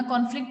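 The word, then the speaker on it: conflict: Word as verb, तो हम कॉन्फ्लिक्ट नहीं पढ़ेंगे, हम कन्फ्लिक्ट पढ़ेंगे उसको। फ्लिक्ट जो है, जो सेकेंड सिलेबल है, हमें उस पर स्ट्रेस देना है।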